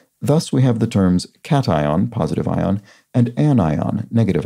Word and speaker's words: cation: remember especially remember the the pronunciation cation and anion because they're so incredibly unintuitive relative to standard english pronunciation you'd think those would be pronounced occasion and anion or something like that